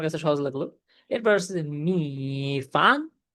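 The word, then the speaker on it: 米饭: এরপর আসতেছে মি ফান, মি ফান, মি ফান। এটার মানে হচ্ছে রাইস। দেখেন এটার উচ্চারণে কিন্তু টাফ আছে।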